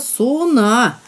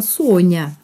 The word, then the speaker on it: Сона: В Чухломско-Сомово впадает речка Сона. На древних картах она пишется Со-на. А сейчас это произносит слово мягко Соня.